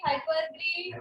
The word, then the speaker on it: hyperbole: You should pronounce it as, because this O over here is silent. तो क्या उसको बोलते हैं? hyperbole.